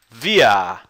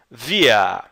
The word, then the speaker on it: wir: Nós, em alemão, a gente fala wir. Wir. E você pronuncia assim, ó. É tipo isso daqui. Wir. Wir. W tem som de V, tá?